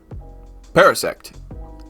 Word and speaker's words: Parasect: Parasect.